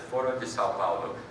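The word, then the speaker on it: Foro de São Paulo: It's the Foro de Sao Paulo, is how you say it in Portuguese and English.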